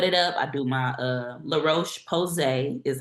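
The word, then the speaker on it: La Roche-Posay: I do my La Roche Posay is how it's pronounced.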